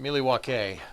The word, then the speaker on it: Milwaukee: your actions don't call Milwaukee what if I call Milwaukee actions would be speaking from itself actually it's pronounced miliwaki which is Algonquin for the good land that's right it's fair